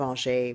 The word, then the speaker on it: Angers: been beautiful um the uh the town of algae which is um it's spelled it's spelled angers basically a-n-g-e-r-s uh algae is beautiful it's in the Loire Valley it's